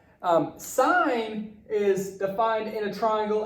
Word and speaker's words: sine: any sign s I and okay now sine pronounced sine sine is defined in a triangle as a ratio